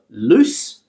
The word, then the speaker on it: loose: So loose and lose. There's like a z sound, a z sound here. This is a s sound. This is a z. Loose, lose.